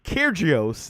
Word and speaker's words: Kyrgios: Djokovic beat Kyrgios. That's how you say it. He's from Australia. His dad's Greek.